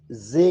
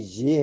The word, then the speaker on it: ژ: کی آواز ہے ز۔ چوتھا حرف ہے ژے، جسے عام طور پہ زے کہتے ہیں لوگ، جو غلط ہے، یہ ژے ہے، اور اس کا تلفظ، اس کا نام ژے ہے، اس کا تلفظ جا ہے۔ مثلا ٹیلی ویژن میں ج جو ہے وہ یہی ج ہے۔ سین، اس کا نام